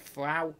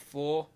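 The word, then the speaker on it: Ffraw: It's F-F-R-A-W, but I've been informed that you pronounce it Frau, not Four.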